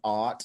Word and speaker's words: AWT: it's spelled awt um it's pronounced art like ah darling we took a real